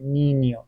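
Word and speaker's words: niño: اینجوری روی ان هست این ناسال خونده میشه یعنی چی؟ یعنی مثلاً دماغتو می‌گیری میگی نیو نینیو ببین اینجوری تلفظ میشه نینیو تو دماغیه مثله اسپانیول اسپانیول پینیت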